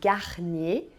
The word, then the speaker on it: Garnier: a água com gás você percebeu que a gente só para o no seu r do Meio bem Garnier Kart e Perrier é que e r em francês tem som de e entendeu quando o r